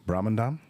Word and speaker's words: Brahmandam: And do you know how to pronounce his last name? Brahmandam?